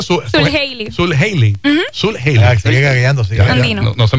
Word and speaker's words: Zuljeily: ¿Cómo se pronuncia? Sul Haley.